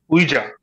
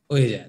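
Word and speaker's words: Ouija: Uija. ठीक है. Uija. आगे जा. Like Gujarati में Suija और यहाँ पे Uija. Yeah. Uija.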